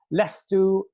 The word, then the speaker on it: لست: So lestu is how you say I am not.